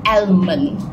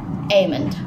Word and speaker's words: almond: the right pronunciation is aimand we put the l we put the l on seven saturn it is silent s else it's a silent l um for information again